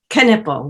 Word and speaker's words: Knippel: last name for me canipel we pronounce the k yes all right very